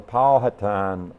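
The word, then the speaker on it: Powhatan: what we're in is a patan uh Village I never pronounced it that way before but that's the way they tell me it goes and and uh you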